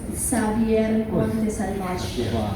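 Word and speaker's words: Xavier Montsalvatge: It's pronounced Xavier Montesalvage.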